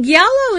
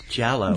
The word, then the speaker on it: giallo: into that, giallo it's and if I'm pronouncing that wrong, anybody out there who's Italian or speaks Italian well, you can write me and say, giallo, isn't it? You're an imbecile. What? It's giallo. Giallo.